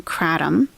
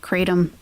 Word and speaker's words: kratom: There was a big bust on kratom. I know some people pronounce it kratom. Some people insist it's kratom.